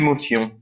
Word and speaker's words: émotion: Just my pronunciation is Émotion. émotion. So is not tion, émotion. Une émotion. Voilà, émotion. And that is totally different from English because in English it's emotion.